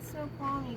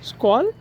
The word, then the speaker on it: Snoqualmie: Snoqualmie? Huh? You're at Summit Snoqualmie Central. Oh. Yeah. Squall?